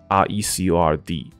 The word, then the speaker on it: record: 我们听到两个发音，R E C O R D，如果它是名词的话，就是 record，它翻译成记录。